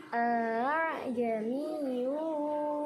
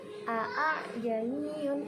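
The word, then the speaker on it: ءَاعْجَمِيٌّ: Jadi bacanya itu harus diseret. Seperti ini contohnya. A'jamiyyu wa arabi, a'jamiyyu wa arabi. Jadi bacanya harus diseret. Jangan a'jamiyun, itu salah ya.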